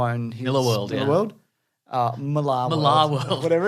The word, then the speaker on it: Millar: I know it is pronounced Miller, Yeah. but we've said Millar too many times to go back now.